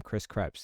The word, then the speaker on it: Krebs: Chris Krebs.